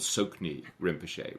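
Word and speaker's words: Tsoknyi Rinpoche: and a guy called sokney rinpochet which is spelled tsok nyi rinpochet and rinpochet means precious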